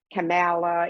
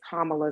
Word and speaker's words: Kamala: be on people about it's not camala it's not all of these different type of ways that people wanted to pronounce madam vice president's first name it is kamala so i love there's